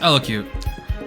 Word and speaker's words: elocute: look this up okay it's pronounced elocute sometimes you need to